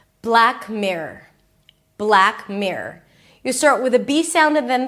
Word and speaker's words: Black Mirror: And then don't get all confused with the R and the O and the R. Just make it like a long R. Mirror. Mirror. I kid you not. Just pronounce it like one long R. Mirror. Black. Mirror. It'll make your life a lot easier and the name is going to sound a lot clearer.